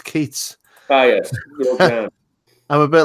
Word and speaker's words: Keats: I'm the same with, it rhymes with Yeats, but it's Keats.